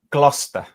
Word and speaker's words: Gloucester: It's Gloucester. Yeah. Gloucester. Anyways, I've had a lot of comments about my pronunciation of British places and authors.